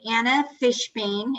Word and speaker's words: Anna Fishbeyn: uh yes steve we are here to interview anna fishbane am i pronouncing it correctly anna yes fishbox she's the